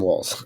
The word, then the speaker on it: Walz: Harris and Tim wall Tim Walls trying to pronounce that last name it sounds like there's a t in it all the time but it's only wz um anyway Trump Vance you're